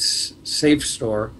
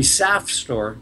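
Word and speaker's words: SAFSTOR: The industry spells it S-A-F-S-T-O-R, and they pronounce that safe, but I think your third grade teacher would scold you if you pronounce S-A-F. It should be SAF store, like SAP here in Vermont.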